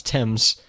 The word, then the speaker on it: Thames: the thames actually what let's pronounce tim's yep who's naming who decided that i don't know i'm no i refuse who are you sure i just looked it up on wikipedia if you trust wikipedia sounds like like it could be right like it's just a silent h but you're telling me